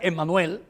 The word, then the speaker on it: Immanuel: eso nosotros tenemos que se escribe immanuel pero se pronuncia Emmanuel can que también se